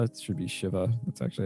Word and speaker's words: Shiva: very first time that you use as they pronounce it shiva it should be shiva that's actually how it's pronounced the first time